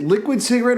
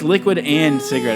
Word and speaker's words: Liquid and Cigarette: Is it liquid cigarette or liquid X, like liquid and cigarette? It's liquid and cigarette. It's spelled out A-N-D on the page.